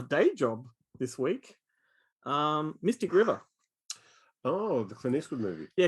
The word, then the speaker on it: Mystic River: had my video store people were asking for mr quiver they thought it was by mister as in mr and mrs mr quiver because they'd obviously